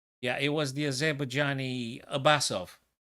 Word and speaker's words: Abbasov: I don't want to mispronounce the man's name. Yeah, it was the Azerbaijani Abbasov. Abbasov.